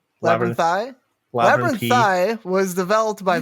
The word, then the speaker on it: Labyrinthine: about the development labyrinth i'm afraid i'm going to say it wrong now is the labyrinthine it's labyrinthine 11 thigh was developed